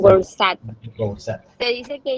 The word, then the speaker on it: Goursat: La definición de función más difundida hoy en día fue propuesta por el matemático francés Edward, ¿sabe cómo se pronuncia? Goursat, tal cual como está. Goursat.